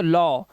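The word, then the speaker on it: law: हो जाते हैं क्योंकि यहां पर ए के साथ डब्लू जैसे ही आया तो इसने अपना उच्चारण क्या कर दिया औ का उच्चारण कर दिया जैसे ए डब्लू ई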